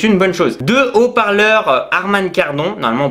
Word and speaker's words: Harman Kardon: Deux haut-parleurs Harman Kardon, normalement on prononce comme ça, qui prendra bien entendu en charge les pistes audio Dolby et DTS.